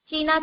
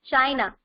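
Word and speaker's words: चीन: is refer here to China. Okay, and you are also aware that China is also known as Chin in Hindi. We pronounce China as a Chin in Hindi.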